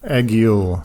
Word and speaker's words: Egil: in pronouncing his name, it is the word egg and the word eel, right? Is that what you're getting from it? Egil.